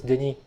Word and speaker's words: Denis: In English I go by Dennis, but actually in French it's Denis.